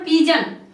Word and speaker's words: pigeon: तो आप देख सकते हैं इसके बाद हो गया यहाँ पर पिजन, PIGEON, ठीक है। तो यहाँ पर जो है कि फिर से आप देख सकते हैं कि GE से यहाँ पर जा का प्रोनाउंस होता है और यहाँ पर क्या